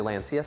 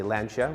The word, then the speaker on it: Lancia: drive some people say Lancia some people say lancha which is how you're supposed to pronounce it but I've always heard the Top Gear guys say Lancia so that's how I